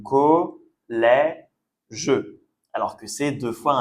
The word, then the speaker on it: collège: Donc, c'est comme pour le mot père. Vous voyez, on a le E accent grave qui se prononce est et le E à la fin, on ne prononce pas de la même façon. Donc, collège.